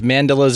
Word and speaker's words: mandala: your i think it's mandalas or mandela's i can't know how it's pronounced but you do that there's a million pronunciations it's like mandala because it's got the a-l-a yeah okay but then